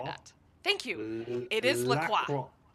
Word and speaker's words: La Croix: It is La Croix. La Croix.